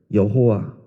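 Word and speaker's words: 야훼: 있는 자라고 하는 의미에 여호와 그리 좀 더 정확한 발음은 야외입니다 그리고이 이름을 잊어버리고 살아가는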